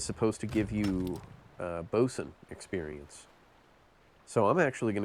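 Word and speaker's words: boatswain: Bosen, I believe, is how this is pronounced despite it being spelled Boat Swain.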